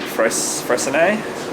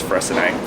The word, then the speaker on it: Freycinet: north to, I think, Freycinet. I don't know how to say it. It says it's spelled like Freycinet, but it's not. But yeah, I think it's Freycinet.